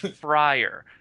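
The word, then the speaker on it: friar: you what I tell my students okay it's pronounced frier think of Fri F cook he's a FR cook you shush um think about okay think about it this way think of frier Tuck from Robin Hood or if you've studied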